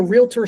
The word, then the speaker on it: realtor: It's not realtor. It's realtor.